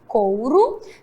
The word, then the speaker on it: couro: cinto e observe que o couro termina com o mas tem um som Gil beleza agora é um